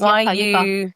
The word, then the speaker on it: Yuka: How do you spell that? Yes, it's Yuka.